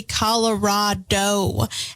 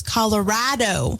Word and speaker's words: Colorado: this because I say Colorado and the correct way to pronounce the state is Colorado because Colorado is so rad that is apparently the reasoning behind it I don't know if